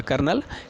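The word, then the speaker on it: Colonel: हो गया ब्रिगेडियर और आपका क्यों सो गए कर्नल क्योंकि क्योंकि है ना क्योंकि तो वह Bigg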